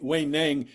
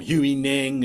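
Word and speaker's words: Huineng: this guy here um way way Nang way n is the proper pronunciation some people call him hu Nang and but way N I think is and here I'm the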